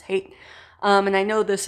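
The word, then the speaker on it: Haidt: religion by jonathan hey i think that's how you pronounce his last name i think it's not height i think it's hate um and i know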